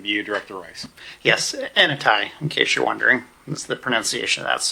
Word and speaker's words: ANAI: that's going to be you director rice yes anai in case you're wondering that's the pronunciation of that so good evening mayor and